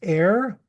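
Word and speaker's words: e'er: this song of e apostrophe eer which is pronounced ER it is a an abbreviation for the word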